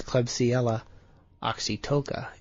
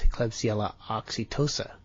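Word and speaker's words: Klebsiella oxytoca: And so a beer that a cause of hemorrhagic colitis is klebsella oxytoca. And maybe that should be a soft C and it's Klebsella oxytosa.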